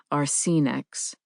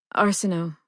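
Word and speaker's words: Arceneaux: She pronounced it Arenex. Arseno. Louisa corrected her softly. It's French.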